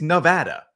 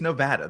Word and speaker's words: Nevada: It's not like, you know, you have an accent of some sort that change It's Nevada. The state is Nevada. The same way would you hear New Jersey pronounced differently somewhere?